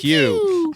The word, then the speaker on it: Pugh: Yeah, you said it right there. Pugh.